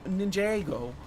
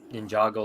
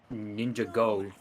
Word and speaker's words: Ninjago: stream and he does he does pronounce Lego Ninjago like that he says ninja gold oh that's horrible that sounds on brand for ride it does sound on brand for right but like I love the way he pronounces some things he just reads how he thinks it it's supposed I mean to be completely honest it's like two words like glued together right ninja and go he's got a good